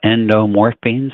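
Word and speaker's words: endorphins: we also talk about endorphines one time uh yeah so now I saying it correctly yeah morphine is in the word what what is Morphine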